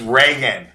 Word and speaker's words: Reagan: I'm like okay well what do you mean Regan Reagan the president yes he never liked him it's Reagan okay yeah I thought Rio somebody from the